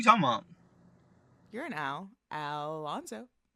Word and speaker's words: Alonzo: Like and then they'll try to like roll by the Z, and it comes out like an S, and it's like Alonso, and I'm like, bro, that's not how you say my name. Don't ever roll. No, it's Alonzo.